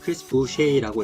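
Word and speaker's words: Chris Boucher: 참고로 부쉐이 선수는 캐나다 퀘벡주 출신이기 때문에 불어식으로 이름을 읽어서 크리스 부쉐이라고 했습니다.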